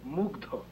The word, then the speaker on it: মুগ্ধ: উচ্চারণটা হবে মুগ্ধ।